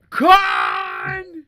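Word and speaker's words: Kahn: you can't probably what I believe pronounced KH meline con there you go is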